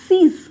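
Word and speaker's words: six: 6 is known as सीज। 6 की spelling same ही रहती है, ये अच्छा पॉइंट है इसका।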